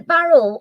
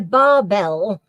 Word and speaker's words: barbel: he's hungry for him is a barrel a Marine or a freshwater fish is about oh sorry I've not said it right there's a surprise it's a barbell right is a barbell